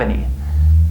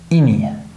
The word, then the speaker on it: any: We don't pronounce it as any, right? It kind of becomes like this, ini, ini. So listen again, have any, have any. I'll see if we have any. This A becomes reduced, right?